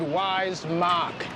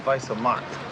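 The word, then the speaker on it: Weiße Macht: It said Wise Mark. It means white power. It's pronounced Weiße Mark.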